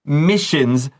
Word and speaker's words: missions: Mickey is always given the most dangerous missions, which is super unfair. 没错，所以老师就说这样好不公平哦。来这边这句话讲说，Mickey is always given，他每次都会被派遣到什么 the most dangerous missions，最危险的任务就交给 Mickey 了。 Yeah. Okay, so missions 有那个 sh 的发音 ss 发 sh 写下来。A mission it's like